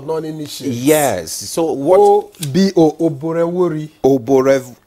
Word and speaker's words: Oborevwori: O-B-O, Oborevwori. The VW is pronounced, you know.